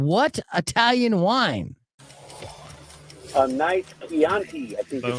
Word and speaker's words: Chianti: fava beans and what Italian wine a night Chianti I think that's how you say it Chianti is correct and for the second time in